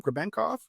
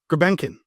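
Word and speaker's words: Grebenkin: what's the kid's name grov that played last night uh uh am I saying it right no greenin Nikita greenin you know maybe maybe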